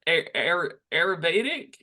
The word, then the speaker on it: Ayurvedic: How does the whole Ayurvedic, is that how you say it?